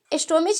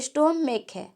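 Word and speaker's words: stomach: तो S जोड़ेंगे तो क्या होगा, प्लुरल होगा, चूंकि स्टोमिच नहीं है, स्टोमेक है ना। तो क यहाँ पे उच्चारण आ रहा है, इसी कारण क्या होगा, इसके अंत में सिर्फ एस जोड़कर हम प्लूरल बनाएंगे।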